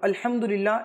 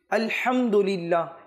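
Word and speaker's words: الحمد لله: আমরা পাঠ করবো আলহামদুলিল্লাহ এখানে মানে হচ্ছে হায় হুত্তি হা যেটা হলকের মধ্যখান থেকে উচ্চারণ হয় উচ্চারণ হয় আলহামদুলিল্লাহ এখন যদি কেউ আলহাম পড়ে তবে এটা অর্থ শুদ্ধ হবে না শুদ্ধ হবে না অর্থ চেঞ্জ হয়ে যাবে তো এটার প্রতি আমাদের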